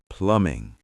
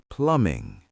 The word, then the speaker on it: plumbing: Plumbing. Let's practice that word. The B is silent. Plumbing.